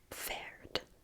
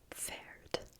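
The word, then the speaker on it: Pferd: dosf dosp faed we don't have a whole lot of PF in English those really aren't letters that go next to each other in English but you've got it in German a little bit so faed faed I find it kind of hard to say dos faed because it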